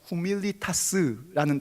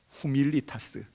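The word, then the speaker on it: humilitas: 됩니다 겸손이 뭔가 겸손이라는 라틴어 후밀리타스라는 단어가 있어요 후미를 타스 라틴어 발음이 그래요 이걸 이제 영어로 얘기하면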